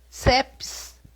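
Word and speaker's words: Țepeș: estátuas etc é verdade eu vou falar como se escreve tepes mas na realidade é ceps de sete é bem difícil falar bem bem chatinho é um ter com cedilha e um essa e com cedilha é essa palavra quer dizer é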